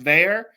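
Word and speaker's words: Veilleux: Christian it looks like my name is spelled Vu but I guess it's pronounced Veer um he transferred from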